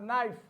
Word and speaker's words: knife: have no we have knife we have knit in all the words k is there but k is silent k is silent we